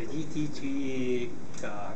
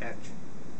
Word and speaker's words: EDGE: The EDGE can be pronounced simply as edge. So in the industry, people just say edge.